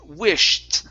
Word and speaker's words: wished: with the silent words so sh sound we do need to pronounce that it's sh though so instead of wi it's wish wish wish okay one more time give me a t at the end wished wished there you go good